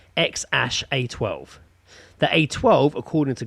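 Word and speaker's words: X Æ A-12: is just an x AE is elvish for AI which is pronounced ash and 8:12 so the name is pronounced ex ash a 12 that a 12 according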